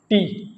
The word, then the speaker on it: te: Next one इज टी। टी। टी को हम pronounce करेंगे टे।